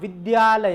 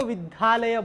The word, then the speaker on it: विद्यालय: बना है ना विद्यालय इसको सही उच्चारण करें आप विद्यालय यहां यह देखो इसका विश्लेषण थोड़ा सा फाल अगर करें हम हैं तो ज्यादा रहस्य हां कुछ लोग इसको विधालयों बोलते हैं लेकिन यह बना कैसी